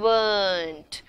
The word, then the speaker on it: weren't: Think R is silent and weren't.